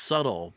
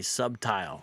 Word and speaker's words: subtle: word, of course, is pronounced subtle, but it's a common mispronunciation within One Westism to say subtile.